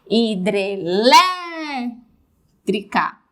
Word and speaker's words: hidrelétrica: é uma palavra polissílaba pela tonicidade pela sílaba tônica hidrelétrica 1 2 3 4 cinco hidrelétrica última penúltima anti penúltima sílaba tônica se é anti penúltima